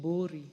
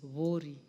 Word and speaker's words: Vuri: Some people would like to call it Bori, but it is Vori. That's the correct pronunciation, Madam Speaker.